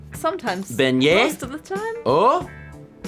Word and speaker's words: beignet: Isn't it a beignet? Is it pronounced differently? Beignet? Beignet. Like this word here. Oh. Listen, you don't. You always add the last consonant, and in French, you don't always do that.